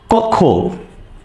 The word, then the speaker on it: কক্ষ: উচ্চারণ আকারে আসে তখন ক খ বসে ধ্বনির উচ্চারণ আকারে খ বসে কিরকম খেয়াল করে দেখেন যদি আমরা বলি কক্ষ বাইর এরকম ভাবে কিন্তু উচ্চারণ হচ্ছে ক খো তাহলে খেয়াল করেন আমি